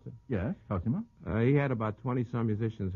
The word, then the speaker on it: Cosima: Is that how you pronounce it? Yes, Cosima.